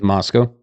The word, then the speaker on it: Moscow: How do you say Moscow? It's Moscow.